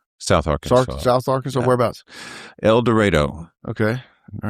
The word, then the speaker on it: El Dorado: I was like, so where is El Dorado? And they said, no, it's El Dorado, rhymes with tornado.